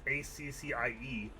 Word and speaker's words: Accie: It's actually pronounced. It's actually like AC. It's ACCIE, or AC for short.